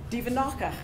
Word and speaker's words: Duvenage: I believe that's the French pronunciation. Duvenacher.